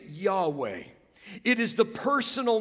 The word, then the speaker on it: Yahweh: I am it is Yahweh a mispronunciation of it would be Jehovah so don't be thrown